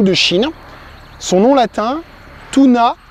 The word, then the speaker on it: Toona: appelle également acajou de Chine son nom latin tuna 6 Tunas ça s'écrit t o o n a alors pourquoi